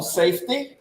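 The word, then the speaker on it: SFTTY: to check out my latest album which is pronounced safety but it's spelled sftt y go check it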